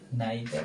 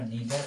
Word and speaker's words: neither: তাহলে এখানে আমাদের আনসার হবে নাইদার বা নিদার অফ, দুটি উচ্চারণই করা যায়।